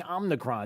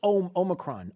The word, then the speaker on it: omicron: the thing it's not it's not even the right name it's omicron and it's the president of the united states who's been saying omnicron that's the biggest uh he and he's and unfortunately he's mispronounced it a couple of times in case you you you missed it it's called the omnicron omnicron the omnicron variant no no no it's omicron omicron variant so i just want